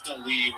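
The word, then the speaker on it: D'Lee: Her name is Dalee, which is spelled D''Lee.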